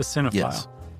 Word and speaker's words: cinephile: A cinephile. I always add an extra syllable.